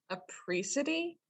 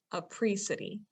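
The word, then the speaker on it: apricity: for the people listening i believe it is a pre-city that is how i was gonna say what it looks like so it's spelled a-p-r-i-c-i-t-y a pre-city okay i'm assuming even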